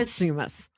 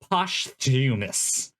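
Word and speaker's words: posthumous: Postumous. Posumus. Postumous. Postumous. Like costume, but postumous.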